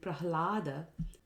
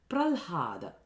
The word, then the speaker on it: Prahlada: Another way of mispronouncing Prahlada is by saying Pralhada, where you interchange the h sound and the l sound. So instead of Prahlada, which is Hlada, we say Pralhada.